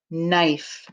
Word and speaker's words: knife: diagraph k n and the k is silent all right 21.